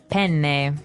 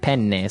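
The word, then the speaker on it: penne: Italian it would be pen pen so you you you double pronounce the consonant yes what about fuini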